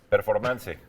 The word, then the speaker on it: performance: Performance. Ah, ok. Sí, para acabar pronto. Para acabar pronto, ¿no? Pero se dice performance Pero ¿cómo se dice en español? Performance. Performance. Sí. como en inglés.